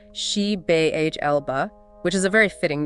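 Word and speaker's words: Xibalba: already in the Underworld zabba pronounced she B Elba which is a very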